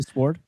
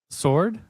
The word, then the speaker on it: sword: Sword? I don't. Sword, not sword. Sword. You just drop the W.